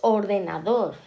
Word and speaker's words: ordenador: Luego tenemos ordenador, pues ala, también en la última, pues es aguda.